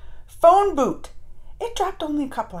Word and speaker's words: Bhoot: what this is about phone boot not like Booth boot Ready Go the magic